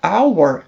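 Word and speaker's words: hour: só para vocês verem o h da palavra our de hora ele não é pronunciado ele tem um som de o então quando houver uma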